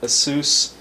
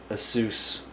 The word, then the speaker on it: Asus: American Megat Trends, Emmy Bios, American Megatrons Incorporated, Asus or ASUS. Getting used to the new way they pronounce it.